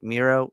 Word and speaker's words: Miro: I said it before, that title has felt flat since freaking Mero had I I said it right. Right. Miro, you know, Rusev, he had it.